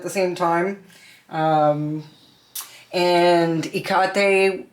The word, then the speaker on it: Hecate: Um and Hecate or Hekate Hekate, however people say it. Hecate to me is the proper way to say it cuz it's a Greek name. That's how you would say it if it's Greek.